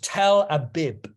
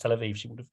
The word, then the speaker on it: Tel Aviv: It's called Tel Abib." And clearly, it's quite interesting to me because it would have been pronounced as a B.